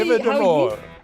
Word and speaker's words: Eva De Mol: This is Eva De Mol, and I hope I pronounced Almost. Eva De Mol. But actually, Eva De Mol. how you pronounce it, in Dutch, it means like Eva the beautiful one.